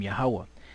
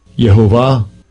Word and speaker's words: Yahweh: This is what how this guy pronounces it in here, right? Listen up. Strong's H 3068. Yehovah. Yehovah. Right, so he said Yehovah, right, which is close, but it's not the Most High's name, right?